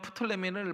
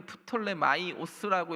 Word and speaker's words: 프톨레마이오스: 헬라 식으로 읽으면 푸톨레미를 푸톨레 마이오스라고 읽는데 저는 그냥 영어식으로 표현한 겁니다.